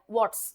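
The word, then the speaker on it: warts: वॉट्स इसका pronunciation होता है आर थोड़ा सा र की साउंड बनाता है। इसको कहते हैं वॉट्स।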